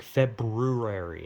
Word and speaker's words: February: It's like February. It has an R after the B. February, but it's like February. What's the point of that R?